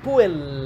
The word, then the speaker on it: puella: Then we have the geminated consonants, which are two equal consonants together, as in "appendix" or in "puella" (girl), it is held longer.